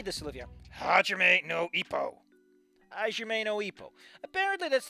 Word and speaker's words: Hajime no Ippo: Hajime no Ippo.